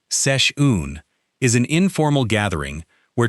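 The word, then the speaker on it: seisiún: A session, pronounced roughly sesh-oon, is an informal gathering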